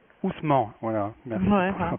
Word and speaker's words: Ousmane: Ousmane. Ousmane, voilà, merci pour la prononciation.